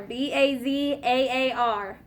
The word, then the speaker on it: bazaar: second what is it good bizarre right bizarre b-a-z-a-a-r bazaar all right which entry word has an